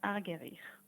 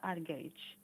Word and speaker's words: Argerich: major um opus 10 number one by martha argerich or mata arge however you'd like to pronounce your name you say it sounds beautiful